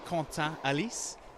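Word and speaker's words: Quentin Halys: I think the official pronunciation is Quentin Alice.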